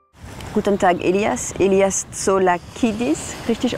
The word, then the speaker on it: Tsolakidis: Elias Tsolakidis, richtig ausgesprochen?